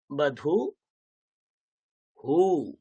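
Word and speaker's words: বধূঃ: এর উচ্চারণটা কেমন হবে? হু, দীর্ঘ হয়ে যাবে। হু, দীর্ঘ হয়ে যায়। দীর্ঘ কি করে লেখে? এইরকম, উ, এইভাবে লেখে। ওকে, তাহলে উচ্চারণটা কি হবে আমাদের? ব, ধয় দীর্ঘ এরকম লেখে, বধু হু, বধু হু।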